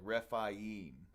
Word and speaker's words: Rephaim: It seems like whenever it's AI, it's I-E. That's the way that they pronounce it. So like Rephaim, you know.